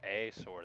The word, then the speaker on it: AI Sword: The game started out named AI Sword, pronounced A Sword.